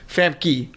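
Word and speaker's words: Famke: fam K yeah actually apparently the way you pronounce her name is fam key no way yeah I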